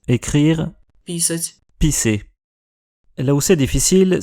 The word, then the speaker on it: писать: Плачу, Je pleure, плачу, je paye, узнаю, je reconnais, узнаю, je reconnaîtrai, et un où il faut pas se planter, писать, écrire, писать.